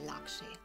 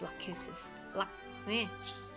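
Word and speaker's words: Lachesis: What was I going to say, Lakshi? It's Lakhisis. Oh, pronunciation is going...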